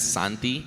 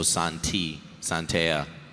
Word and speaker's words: Santea: You can find me on YouTube as Santi. It's spelled like S-A-N and then T. So Santea. Or on TikTok as the same thing, but with 2 underscores.